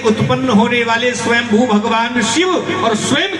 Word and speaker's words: स्वयंभू: शंभू बोलते हैं ना सुनो शंभू नहीं स्वयंभू सही उच्चारण है संभव तो हम गलत बोलते हैं स्वयंभू और स्वयंभू